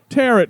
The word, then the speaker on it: tarot: seriously tarot cards yeah tarot cards rhymes with carrots yeah there's long and